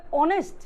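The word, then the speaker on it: honest: দেখা যাচ্ছে যে উচ্চারণ করতে হবে অনেস্ট, এখানে আছে হনেস্ট বলে ফেলে।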